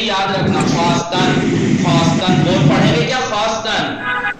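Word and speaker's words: خواستن: Travel خواستان देखिए खानम खास तन पढ़ रहे हैं क्या पढ़ रहे हैं खास तन लिखा क्या है ख्वास्तन, लिखा क्या है वाव साइलेंट है ख्वास्तन।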